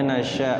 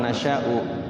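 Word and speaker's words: نَشَآءُ: Wakofnya nasya, tetap ya wakofnya nasya, bukan nasya'u.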